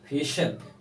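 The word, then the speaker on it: facial: जैसे फेशियल, कोई इसे फेशियल कहते हैं, कोई इसे फेशियल कहते हैं, दोनों तरह से प्रोनाउंस करेक्ट है।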